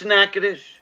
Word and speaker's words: Nacogdoches: one you're thinking about nacogdoches no it's nakedus that's how it's pronounced in that why is